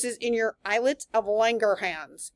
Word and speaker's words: Langerhans: This is in your islets of Langerhans. You got to say it like you have a German accent.